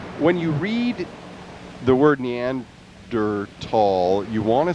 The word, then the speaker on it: Neanderthal: uh I pronounced it Neanderthal for a long time until I read the correct pronunciation and is neander tall and the H is silent which is annoying there's so many silent